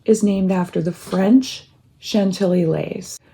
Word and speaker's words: Chantilly: Chantilly was made for the American market, and so it was meant to be pronounced Chantilly instead of the French pronunciation, Chantilly.